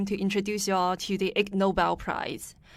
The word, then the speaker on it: Ig Nobel: introduce y'all to the egg Nobel Prize it's spelled IG and the Nobel Prize and of course it's a pun to the actual Nobel Prize and the word ignoble so for those of